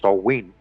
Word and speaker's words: Samhain: was already well established that the name Samhain, pronounced Samhain, referred to the 3-day Celtic New Year celebration that began when the sun went down on the 31st of October.